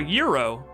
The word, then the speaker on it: gyro: A Euro, it's spelled gyro and pronounced Euro.